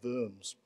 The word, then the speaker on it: Worms: giggle ever since the diet of worms pronounced worms you see here was a